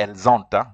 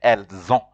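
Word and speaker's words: ils ont: unless there's an e but if there's no e you see like here you just say and Zone you don't say elzanta you say El zon or ill so uh we are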